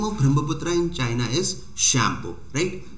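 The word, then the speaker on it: Tsangpo: सो the name of Brahmaputra in China is shampoo, right? तो shampoo याद रखना है आपका, जिसमें टी जो होता है साइलेंट होता है।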